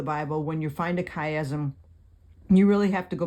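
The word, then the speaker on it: chiasm: how to spell it it's c h i as M kaym so there's the two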